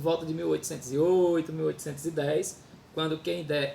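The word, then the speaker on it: Kehinde: Vai contar a história, a trajetória de Kendé, há quem pronuncie Querrin, né?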